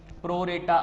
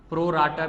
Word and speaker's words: pro rata: Next we are having with us इज दी प्रो रेटा allotment. Second पे देख रहे हैं हम प्रो रेटा अलॉटमेंट. प्रो राटा भी इसको प्रोनाउंस करते हैं, प्रो रेटा भी प्रोनाउंस करते हैं.